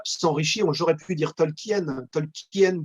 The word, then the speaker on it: Tolkien: J'aurais pu dire Tolkien, Tolkien qui sonne presque comme King à la fin de Tolkien, on le prononce.